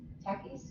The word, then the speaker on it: Takis: uh the Mexican chip that's really hot t Takis is that how it's pronounced Takis Takis how you pronounce that t a k